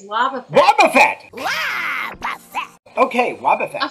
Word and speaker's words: Wobbuffet: Is that how you pronounce it? Is it Wobbuffet? It's Wobbuffet.